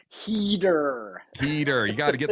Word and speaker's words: Heder: I like the American pronunciation. Heder.